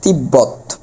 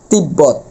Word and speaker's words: তিব্বত: আচ্ছা এটার উচ্চারণ হবে তিব্বত। ব্যাপারটা এরকম। কি উচ্চারণ হবে? তিব্বত। এখানে একটু ধাক্কা খাচ্ছে।